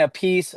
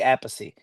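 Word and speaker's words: Appice: Like Carmine says Carmine a piece. Vinnie says Vinnie Apey.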